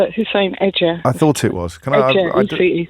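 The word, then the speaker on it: Hussein-Ece: or Baroness Husseini to give. Did I pronounce the second bit of your name correctly? No, it's Hussein Edger.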